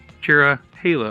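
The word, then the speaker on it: Cherohala: is the terahela skyway which I thought was pronounced chirihala and my dad said that they say Chara Hala up here because the Nantahala national forest and I'm a big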